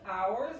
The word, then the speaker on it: ours: De nuestros, ours, otra vez simplemente agregas la S que se pronuncia como la Z inglesa.